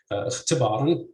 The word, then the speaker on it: اختباراً: So you'd say اختباراً with stress on the second CV syllable, but you would say